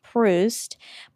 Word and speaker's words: Proust: I looked up how to say it, Proust.